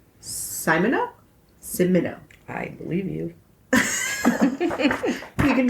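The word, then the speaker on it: Simoneaux: Simono? Because E-A-U is O. Right. And I think the X is silent. Yeah. So it's Simono? I believe you. You can just call him Wally. Simono and Hembry were enticed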